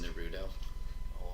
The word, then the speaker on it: Naruto: It's pronounced Naruto.